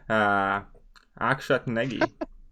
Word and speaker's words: Akshat Negi: You butchered my name real nice. Akshat Negi. It's the name. How do you pronounce it? Akshat Negi, Okay.